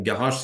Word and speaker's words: garage: Et au niveau de la prononciation, pardon, il y a deux G qui se prononcent de façon différente. Il y a un G et un je.